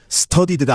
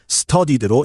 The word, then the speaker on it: studied: 발음은 studed가 아니라 studied로 읽어요.